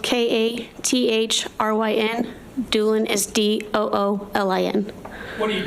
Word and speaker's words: Doolin: me your name please my name is Doolin and it's spelled k-a-t-h-r-y-n doulin is d-o-o-l-i-n what do you do I'm a